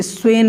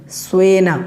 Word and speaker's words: स्वेन: कुछ लोग स्वेन बोल देते हैं, ई लगा देते हैं।